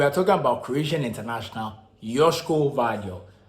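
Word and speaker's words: Joško Gvardiol: talking about Croatian International yoshiko value yes that's how it's pronounced I know it's about gabadio the latest and quite what they seem to be but it's yoshiko vadio so the 21 Croatian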